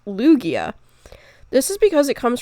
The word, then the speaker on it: Lugia: Now, you might be thinking it's pronounced Lugia, but actually it's pronounced Lugia.